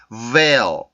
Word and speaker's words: veil: 오므라들면서 올라오는 소리이기 때문에 그냥 bell 이게 아니라 veil, veil, veil 이런 식으로 소리를 만들어줘요. 그래서 이 dark L 발음의 특징 중에 요 L 발음이 이렇게 나와